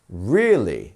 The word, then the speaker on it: really: would we pronounce that we have two syllables here really which one is our stressed syllable it's our first one right really instead of really so you see really so you want to pronounce that as a stressed first syllable number 27 recently recently